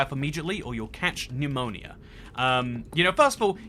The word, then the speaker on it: pneumonia: immediately or you'll catch pneumonia. You know, first of all, you ever looked at the way pneumonia is spelt? What's that P doing there, first of all?